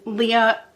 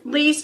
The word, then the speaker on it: Lea: a drug addict and Leah not Leah sorry I'm sorry I'm sorry her name is Lea it's spelled L e a but pronounced Lea okay so Lea quickly